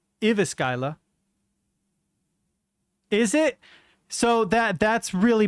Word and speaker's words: Jyväskylä: I don't remember how the J's are pronounced in Finnish. Oops. Jyväskylä. Jyväskylä. Jyväskylä. That's not how I would have predicted it sounding, but cool.